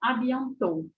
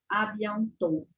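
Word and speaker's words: à bientôt: que falo abiant abiant eu paro no último o eu não pronuncio abiant adiantou né Não pronuncio nada disso o som do dele não sai nem quando nem assim muito simplezinho nem soprado el não sabe on to não sai esse som do tele não sai e a mesma coisa AB não sai sonzinho do d porque é aquilo que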